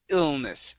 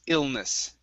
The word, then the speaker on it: illness: you said illness okay adding a vowel ill it's illness illness illness there you go